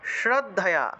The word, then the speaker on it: শ্রদ্ধা: যুক্তা নিত্য যুক্তা উপাসতে দন্তস উচ্চারণ হলো স্রদ্ধা অনেকে শ্রদ্ধা বলে ফেলেন এটা শ্রদ্ধা হবে না শ্রদ্ধা হবে না ঠিক